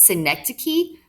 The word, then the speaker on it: synecdoche: i sound this is a tough one to pronounce synecdoche okay that is when a part is made